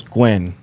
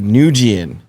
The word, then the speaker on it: Nguyen: first job, I butchered, it was Gwen. Just GWEN? No, the NGUYEN. Oh, okay. The Asian way of saying it, right? Mm-hmm. And I said Nujian.